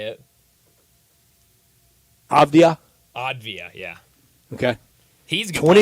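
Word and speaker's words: Avdija: Avdia.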